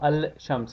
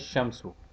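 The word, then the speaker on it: الشمس: solar letter for example ashams or al-shams is pronounced as shamsu no change takes place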